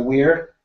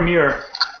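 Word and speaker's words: Muir: think the winner might be Great Britain's Laura Weir uh she had huge Improvement 201 I'm sorry what Laura Mir sorry yes Mir mispronouncing her last name uh but she had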